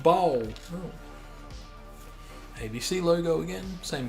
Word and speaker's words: Bolle: It is Bolle, right? No, it's pronounced bowl.